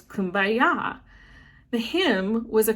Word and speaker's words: Kumbaya: man named h wiley the chorus was actually come by here which in the gula's creole accent sounds like kumbaya so over time the pronunciation transformed into what we know today as kumbaya the hymn was a